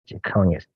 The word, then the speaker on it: Jechonias: Jeconias. Jeconias. That's spelled Jechonias.